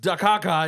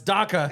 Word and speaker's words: DACA: not how you talk it's not pronounced dakaka it's DACA it's DACA boy yeah I will strike